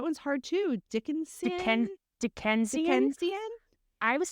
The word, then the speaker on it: Dickensian: Dickensian? Dickensian? I was saying Dickerson, but it's Dickensian.